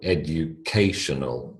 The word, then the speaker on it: educational: first word university university third syllable again in the second word educational educational now you'll notice k